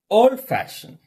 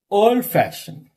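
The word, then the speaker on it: old-fashioned: And compound adjectives. Adjectives and verbs. Okay. Stress fall on second syllable. Understand. Understand. Understand. Old fashioned. Old fashioned.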